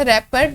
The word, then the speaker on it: wrapper: हम इसे जब प्रोनाउंस करते हैं हमारे पास रैपर, W साइलेंट साउंड है, रैपर हमारे पास R कॉन्सोनेंट है तो ए आ जाएगा यहाँ पे।